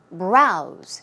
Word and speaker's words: browse: One more, browse, which means to look, right? To run through, to glimpse at something, or even flip through something. Browse. It's a Z sound as you see.